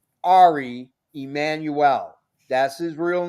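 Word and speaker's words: Ari Emanuel: It's Ari Emmanuel. That's his real name. Oh, okay. We don't want to mispronounce.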